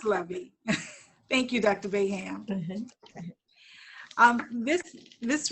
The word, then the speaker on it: Levy: Her name could be Levi or Levy. I should ask Dr. Smith, how are you pronouncing it? Because I know you'll know better than me. Okay, Dr. Smith, if you'll really release your mute and you may begin. Thank you, Dr. Beauchamp-Byrd. It's pronounced Levy.